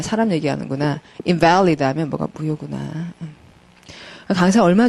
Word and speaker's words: invalid: invalid라 그러면은 명사이기도 하고 허약한일 때는 invalid라고 읽고요. 그다음에 무효할 때는 invalid라고 읽어요. invalid와 자, 여러분 보지 말고 한번 들어봐요. invalid, 그다음 invalid. 같은 말 같아요, 다른 말 같아요. invalid, invalid. 다른 말 같죠. 강세 때문에 소리가 확 달라지죠.